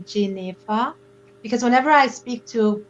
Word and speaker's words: Jennefer: my name jennifer jennifer it's actually pronounced j neva because whenever i speak